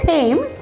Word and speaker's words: Thames: went to the river river thames yes it's thames but you pronounce it as dance could we have a